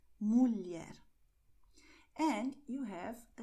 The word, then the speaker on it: mulher: And you have the combination LH with the sound of, well, L and E, a tiny E. So you're going to say mulher, mulher.